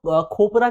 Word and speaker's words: copra: प्रकार दिखाई देंगे कोपरा इसको आप कोपरा भी कह सकते हैं और कई लोग इसको आपको खोपरा के तौर पर भी प्रोनाउंस करते हैं तो आप किसी भी तौर पर इसको प्रोनाउंस कर सकते हैं तो अगर इसके प्रकारों